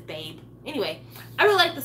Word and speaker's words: Babe: I liked Babe, even though she pronounced it Baby, but it's Babe.